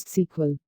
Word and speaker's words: SQL: modifying rows et Cie sometimes it is pronounced as sequel to when SQL appeared